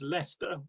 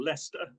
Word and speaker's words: Leicester: uh thank you very much and yeah it's pronounced leicester very very simple leicester so uh yeah well a bit like my